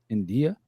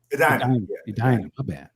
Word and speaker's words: Edina: So Jealous Girl rehearsal, Washington Avenue Warehouse, India. Am I saying it right? India, Minnesota? Edina.